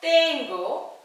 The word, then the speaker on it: tengo: ஸோ it should be told as the pronunciation தான் தமிழ்ல சொல்ற the pronunciation. so tengo, tengo இல்ல tengo un jardín pequeño.